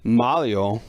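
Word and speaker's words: Maglio: Then we have TJ Malio. The G, there's no G. It's there, but it's silent.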